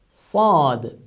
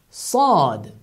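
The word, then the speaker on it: ص: This is the same S in English, but it is articulated with much emphasis. Instead of saying Sad, you emphasize it stronger. Sad. Sad. As if you have put something in your mouth and you pronounce it.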